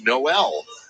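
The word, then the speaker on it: Nowell: uh want to apologize to Jaylen Noel for mispronouncing his last name it's Noel from udub got mckin in the game so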